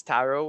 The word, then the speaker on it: tarot: So yeah, again, Tarot by Tony, and it's Tarot with a silent T.